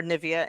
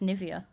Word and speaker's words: Nivea: Well, it's like Nivea for me, like Nivea for men. Oh. Nivea. Oh, I like it. Because my name has Niv in it, or Nivea in it, so it's Nivea for me.